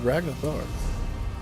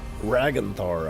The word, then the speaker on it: Ragnthar: Ragnathar. Ragnthar, I think, is actually how it's said.